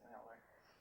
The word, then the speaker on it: Mueller: I know a lot of people here pronounce it Mueller. Miller? Okay. They pronounce it Miller.